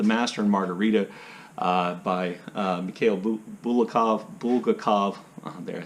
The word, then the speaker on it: Bulgakov: The only one I can think of, and I mention this book all the time, is The Master and Margarita by Mikhail Bulgakov.